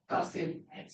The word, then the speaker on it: Kassim: that's how you pronounce it? Kassim? Kassim.